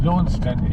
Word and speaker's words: Launceston: And Launceston is spelled a little bit like Leicester, in that there's a C and an E in there that you don't pronounce.